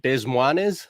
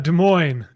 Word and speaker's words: Des Moines: can help me with this one is it des moines how do you say that des moines des moines and it says by choice uh with his